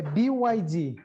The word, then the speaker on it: BYD: Henrique, eu acabei não checando com você, qual que é a pronúncia do nome da sua empresa? É BYD.